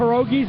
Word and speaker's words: pierogi: Pick up pierogies in Chinatown? Don't ask. It's this little Russian hole in the corner store. It's pronounced pierogi.